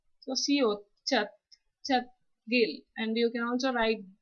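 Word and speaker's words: 찻길: Here we have used siot as the final consonant, which has the final sound as th. So siot, chat, chat, gil, and you can also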